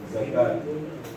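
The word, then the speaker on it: الزكوٰة: And here, zakat. Zakat. So this waw is silent.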